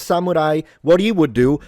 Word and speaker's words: samurai: It's not pronounced samurai samurai. Having established that and for advanced learners let us jump into pitch accent. This is a zero pattern so heiban pattern which is the so-called flat pitch in Japanese or accentless words. So we start low sa You can see this is low sa and then we go high mu ra i So these stay high.